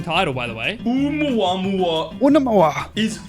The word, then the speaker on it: Oumuamua: Okay, how do I pronounce this fucking title, by the way? Oumuamua Unamawa. is Oumuamua.